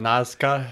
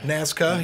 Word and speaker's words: Nazca: Yeah, so this is, how do you say that, Nazca? Nazca, yeah.